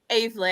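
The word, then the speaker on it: Aveley: And then in relegation, how do we pronounce this one, Ben, in 21st? Avely.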